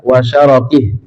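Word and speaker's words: وَشَرَكِهِ: syarri syaitani wa syirkihi, bisa dibaca wa syarakih, wa syirkihi atau wa syarakih. Yang lebih bagus adalah sekali membacanya dengan wa syirkihi, sekali membacanya dengan wa syarakih.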